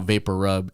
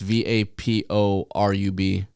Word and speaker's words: VapoRub: You know, but it is actually just one R. It's not vapor rub. It's VAPORUB. No, it's not.